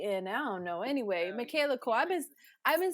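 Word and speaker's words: Michaela Coel: Anyway, Michaela Cole.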